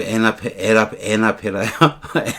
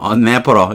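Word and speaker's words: anaphora: 농담으로 에나페라요? 에나페라? 아니에요. 어네퍼러 이렇게 발음합니다.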